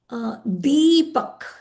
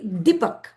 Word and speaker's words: Deepak: So if I say Deepak, D, it's long. I didn't say Dipak. If I say Dipak, it'll be short. Deepak. D is long.